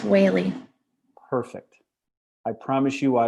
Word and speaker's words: Whaley: It's Whaley. Perfect. I promise you I won't mispronounce it as we go through this morning.